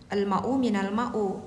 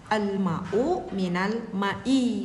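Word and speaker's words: الماء من الماء: Apa maksudnya al-ma'u minal ma'u? Oke, mungkin ini yang bertanya kalimat yang benar bukan al-ma'u minal ma'u ya, tetapi dibacanya al-ma'u minal ma'i, bukan.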